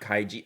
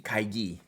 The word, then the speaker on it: Kaigi: so much I appreciate it I meant not kaiji oh kaiji kaigi right Italian thank you I see kaigi Techo